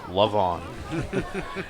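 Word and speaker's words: Le'Von: Levon. It's spelled love, apostrophe on.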